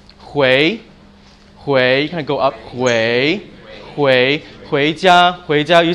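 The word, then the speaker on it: 回家: Hui, you can go up, hui jia, you say this to taxi drivers, you be like, I want to go home, hui jia, and jia, got it?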